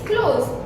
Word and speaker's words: close: The pronunciation will be z.